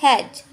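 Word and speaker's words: edge: अब यहाँ पर भी हम आ जाते हैं, ये हमारा डी साइलेंट से इसको पढ़ेंगे एज।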